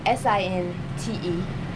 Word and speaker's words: Sinte: And it's spelled S-I-N-T-E, Sinte.